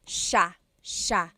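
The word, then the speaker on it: siya: But it's actually pronounced sha sha. So the s i y it's a sha sound.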